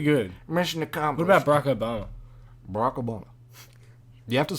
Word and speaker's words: Barack Obama: What about Barack Obama? Barack Obama. You have to say his name as like one syllable.